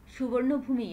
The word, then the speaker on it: Suvarnabhumi: The plane landed at Suvarnabhumi Airport at 4:55 p.m. The name Suvarnabhumi is pronounced as Suvarnabhum.